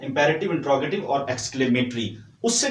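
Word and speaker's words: interrogative: ये जो आपके सामने नंबर 3 पे लिखा हुआ है इंट्रोगेटिव, इसको स्टूडेंट्स यूजुअली बोलते हैं इंटेरोगेटिव। ठीक है, तो ये आपने गलती नहीं करनी, ये इंट्रोगेटिव होता है। प्रोनाउंसिएशन इसकी आप लोग ठीक बोलिएगा आइंदा से।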